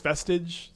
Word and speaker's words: Vestige: Am I intentionally mispronouncing vestig? Okay, I just can't live my life like this, chat. I Okay, how is it pronounced? It's vestage. Vestage.